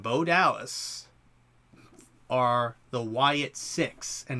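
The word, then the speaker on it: Sicks: Dallas are the Wyatt 6 and it's spelled SI i c KS like sick like you're sick but it has an S it's kind of a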